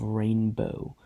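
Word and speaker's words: Ranboh: The Jeby are a species, and I will also be talking about the planet of Rainbow. That's spelled with R-A-N-B-O-H, not R-A-I-N-B-O-H, and not R-A-I-N-B-O-W.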